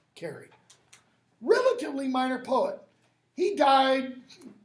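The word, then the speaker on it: Carew: There's a guy named Edward Carey, I can't remember the first name. a relatively minor poet. Last name is C-A-R-E-W, but it's pronounced Carey.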